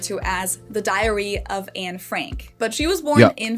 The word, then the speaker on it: Anne Frank: in German and Dutch, her name is actually pronounced Anne Frank. Whoa. Anne Frank. Anne Frank. Oh. Okay. So instead of it just being one syllable, Anne, it's 2 syllables, Anne, and then the last name just has the German A vowel.